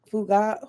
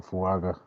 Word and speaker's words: Fuaga: Can you say Fuga? Who was it? How you say his name? At 20? I don't know how to say his name. I'm not gonna butcher it. oh, Fuaga.